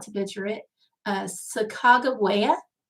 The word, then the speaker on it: Sacagawea: heard of um is sacagawea or let me try not to butcher it uh sacagawea i think is how it's being pronounced these days but it's the woman